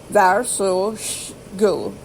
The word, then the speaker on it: varsågod: Is pronounced go, G-O-O. Varsågod.